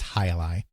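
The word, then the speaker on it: Jai-Alai: it's J AI hyphen a AI but it's pronounced highi so they added the squash game as hii releases the tar Alpha and released it for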